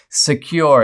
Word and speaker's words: Sekur: Secure is the better way. It's spelled S-E-K-U-R, and it offers secure